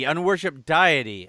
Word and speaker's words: Unworshipedeity: of the self ah oh it's diety unw worship diety okay I I've been pronounced a deity my my apologies oh